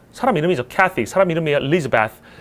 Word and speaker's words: Elizabeth: 그래서 얘는 이 L자 뒤에 있는 I의 강세라는 게 있어서 Elizabeth 아예 앞을 버리고 Elizabeth라고 읽으면 알아듣습니다. Elizabeth 이걸 안 읽어도 돼.